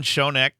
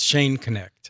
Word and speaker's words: Schoenknecht: very special guest Shon is a retired Middle School am I pronouncing your name first um it's Shane connect Shane connect okay my apologies so